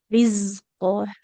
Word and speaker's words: رزقا: وجد عندها رزقا Rizqo. Z-nya lebih mengalir suaranya.